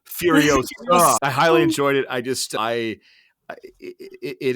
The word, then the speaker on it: Furiosa: Sorry, I I believe it's pronounced Furiosa. Not Furiosa, Furiosa.